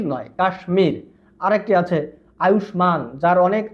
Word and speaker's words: কাশ্মীর: আরো একটি আছে ভারতের একটি অঙ্গরাজ্য কাশ্মীর এটার উচ্চারণ কিন্তু কাশ্মীর নয় কাশ্মীর আরেকটি আছে আয়ুষমান যার অনেক আয়ু যার অনেক